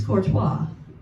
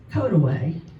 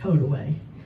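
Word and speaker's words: Courtois: You think it's Corttois, but it's Kotaway. Don't ask me why. That's just the name of it. Code away.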